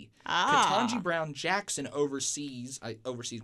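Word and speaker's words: Ketanji: Is it Katanji? Katanji.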